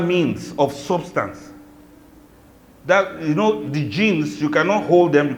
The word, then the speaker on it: jinn: They spell it G-I-N, whereas it's J-I-N, al-Jannu. So it's a jinn, it's an al-Jannu in other forms.